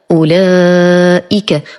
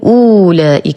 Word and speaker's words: أولئك: سورة البقرة الوجه الأول، نلاحظ أن الواو عليها صفر مستدير، هذا دليل على أن هذا الحرف لا ينطق، وأي حرف في القرآن تجدون فوقه هذا الصفر هذا دليل على أن الحرف لا ينطق. إذن أنطق فقط ضمة الهمزة فأقول أولئك ولا أقول أولئك وهذا خطأ.